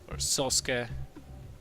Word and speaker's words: Sasuke: are going to see Sasuke sosuke as it is the correct Japanese pronunciation of the name spawning as the red